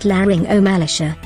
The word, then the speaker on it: laryngomalacia: Parents are often confused and alarmed when they are told their infant or child has a condition known as laryngomalacia, pronounced laryngomalacia.